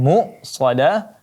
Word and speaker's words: مؤصدة: Kemudian muqsadah, hamzahnya benar-benar ditekan. Muqsadah.